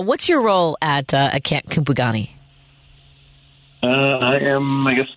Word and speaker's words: Kupugani: of the camp appropriately well I pronounce it originally I heard someone pronounce it like with some Zulu Flair which I don't speak but I guess kupagani I got you camp kupogani and so first of